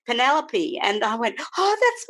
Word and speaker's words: Penelope: time I can remember one book about her little girl called penny lobe because I didn't know how to pronounce her name properly and it wasn't until I went to boarding school and there was a young girl she comes up to me and says hello I'm penny Penelope and I went oh